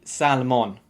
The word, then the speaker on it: salmon: line for this one don't say salmon you have to drop the l because it's silent and the o is not o as in on it's with a schwa